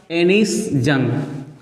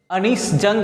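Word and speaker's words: Anees Jung: अगर हिंदी में बात करें हम लोग तो अनीस जंग इनका नाम होता है. सिंस इंग्लिश डिक्शन में प्रोनाउंसिएशन थोड़ा डिफरेंट हो जाता है, सो हम लोग इनको इंग्लिश में एनिस जंग बोलेंगे एंड in Hindi I would call अनीस जंग.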